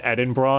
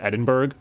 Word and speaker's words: Edinburgh: I will say that is one thing, though, because they pronounce it Edinburgh instead of Edinburgh. So they went with the Japanese pronunciation in the dub, which is really bizarre if you're looking at the title of the film.